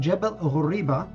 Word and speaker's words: Jebel Horiba: Jebel Sania and Jebel Huriba, and that's essentially the way you would pronounce them, etymologically, meaning considering how languages shift over time, those are plainly the equivalents of Sinai and Horeb.